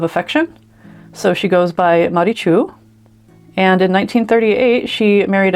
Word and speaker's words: Maritxu: The suffix TXU is pronounced Chu and that is a Basque cultural um suffix of affection. So she goes by Marichu.